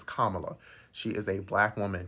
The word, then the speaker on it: Kamala: is absolutely unacceptable secondly Kamala Kamala cuz you pronounced it Kamala in your video is Kamala she is a black